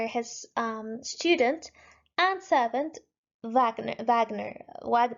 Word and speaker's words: Wagner: his attendant or his um student and servant Vagner Wagner wag it's not pronounced as Wagner it's Wagner German pronunciation as